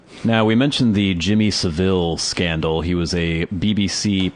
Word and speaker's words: Savile: I think you're supposed to say Savile, even though there's only one L. The British people I've heard say the name say Savile. They say Savile? Okay, I've heard Americans say Savile and British people, okay, I guess they're saying Savile.